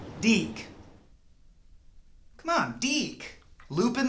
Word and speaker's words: DiC: I know that one it's pronounced dick dick dick dick okay I see what you're doing and I love it but no it's actually deke and they're pretty sensitive